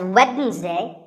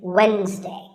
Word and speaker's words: Wednesday: the week it's wednesday the d is silent sometimes it's pronounced as wednesday but the proper way to say it is wednesday what about this word